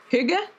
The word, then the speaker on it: hygge: Hygge?